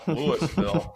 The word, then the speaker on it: Louisville: Louisville Colorado that way people in Louisville know that I'm I didn't mispronounce that they call it Lewisville in uh in Colorado and um I'm looking